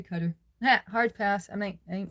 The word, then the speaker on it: Qatar: I still call it the Emirates, but I got in trouble for calling cutter cutter instead by a guy in the military. He said I wasn't saying it right, but my students always saidQatar, so I don't know. He said I was stationed there uh in the military. We say Qatar.